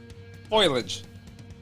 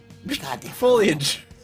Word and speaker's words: foliage: Foilage. Foliage.